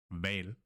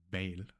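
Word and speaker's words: hval: Here in the example we have val, val, and it means whale. Okay, that's it for some tricky Danish pronunciations.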